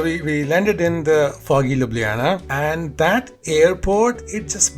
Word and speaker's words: Ljubljana: So I kind of got it because Europe, so the J is pronounced as yo, and because there's one right after L, so I kind of get like it would be Ljubljana.